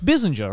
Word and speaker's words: Bizinger: Like, oh my God, I don't think there hasn't been a single person who's pronounced my surname correct. Really? It's the first time. Not that hard. Yeah, it's Bissinger, right?